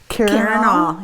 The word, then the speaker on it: Karinall: Karinall, yeah.